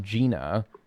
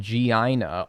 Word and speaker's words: Gianna: No, as a Gianna, pronounced Gina, I got called Gianna all the time.